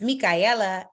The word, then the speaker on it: Micaela: If you haven't met me yet, my name is Micaela, Ella, A, just like the Rihanna song. Shout out to the Super Bowl if we have any football fans, but Rihanna, Ella, that's how you say my name.